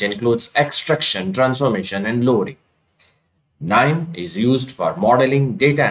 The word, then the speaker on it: KNIME: KNIME stands for Constants Information Miner and is pronounced as KNIME, where K is silent just like knife.